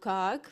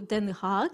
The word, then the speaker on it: Den Haag: Actually, like I went to very first day on 24th, I went to Kaag because to Den Haag. Den Haag, yeah, okay, sorry. Yeah, I can pronounce it differently.